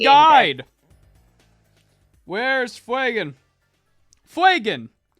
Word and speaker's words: Fuegan: Fuegan. FWAY-GUHN. Fuegan. Not Fajan. Like Reagan. Not Reagan. Fuegan.